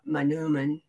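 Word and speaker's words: manoomin: been doing wild rice manuman is how you say it in in know jway um restoration on this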